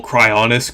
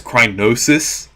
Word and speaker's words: Cryonis: one for some reason I used to call cryonis crynosis I don't know why I think it's kind of like how I used to pronounce lakitu as latuki even though it's not spelled that way okay foreign